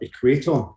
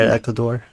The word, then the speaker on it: Equator: The track's called, sorry, Alistair, Equator. Is that the one you're talking about? It's just been Yeah, released yesterday. I've been pronouncing it Ecuador, like the country.